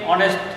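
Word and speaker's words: honest: দেখো আলী is dash অনেস্ট ম্যান, আলী is dash অনেস্ট, অনেস্ট এখানে কি আছে? এইচ আছে, কিন্তু এইচের উচ্চারণটা কিন্তু হয়ের মতো হয় নাই, অয়ের মতো হয়েছে।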